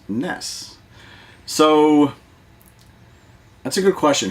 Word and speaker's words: NES: initials of each one so nes which phonetically is ness you're right when i was a kid i said ness and then as i got older i noticed everyone around me was saying any ass so i actually changed